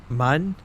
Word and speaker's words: Mun: KSP, you pronounce the moon. Mun.